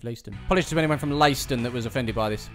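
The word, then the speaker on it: Leiston: previous video as well leeston is actually layston you know what deep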